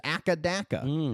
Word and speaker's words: AC/DC: It is pronounced one letter at a time. Although the band in Australia on in Australia, they are colloquially known as ackadaka.